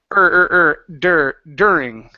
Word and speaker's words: during: to this word here instead of do during it's dur during during good good so a moment